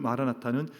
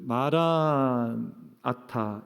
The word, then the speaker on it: 마라나타: 오시옵소서 주님이여, 이런 뜻을 가지고 있는데, 이게 발음과 그리고 강세를 따라서, 영어도 그런 표현이 있지만 때로는 이게 액센트가 앞에 있냐 뒤에 있냐에 따라서 의미가 달라지는 것처럼 마라나타라는 단어도 아람어도 그렇습니다.